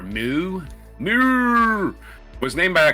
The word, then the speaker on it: Meaux: I think it's pronounced Meaux. M-E-A-U-X. Meaux. Or Moo.